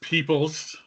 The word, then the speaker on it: Peoples: It is Peoples. Peoples, Much okay. like people, but spelled a little Yeah, differently. but spelled differently just to throw me a curve.